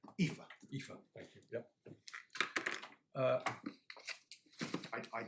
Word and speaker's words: Aoife: Out of curiosity, how do you pronounce her first name? Aoife.